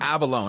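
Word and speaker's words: Avallone: uh Tommy Val avalone avalone I know how to say it right yeah um great guy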